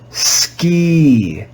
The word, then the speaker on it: ski: by practice and experience this word is read with the sound e for the letter i let's read it together ski ski ski in this word the